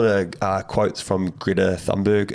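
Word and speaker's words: Thunberg: uh quotes from Greta thundberg is it thundberg or you pronounce it differently I don't know I think when you say it in like a Swedish accent it's like Greta tundberg um You Say Nothing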